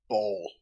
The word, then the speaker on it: Baal: So I learned this other is the visage of Baal. God of murder. God of murder. Yeah. B-double-A-L. B-A. Okay. Bravo pronounced Alpha like- Alpha Lima.